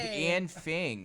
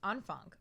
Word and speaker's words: Anfang: heard this new band an fing oh my goodness so like the German guy told me he was like it's pronounced an Funk which I believe it sounds like a k at the end I guess but we